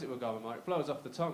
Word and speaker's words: Wagamama: you really want to impress her, you should pronounce it the correct way, which is actually Wagamama.